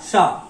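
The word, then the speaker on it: し: 1 2, pronunciation आएगा शा, 2 stroke pronunciation आएगा शा। नेक्स्ट सिंगल स्ट्रोक, इसका प्रोनाउंसिएशन होता है शी। ये थोड़ा सा ऑड है, इसको होना चाहिए था शी, लेकिन इसका प्रोनाउंसिएशन होता है शी, SHI शी।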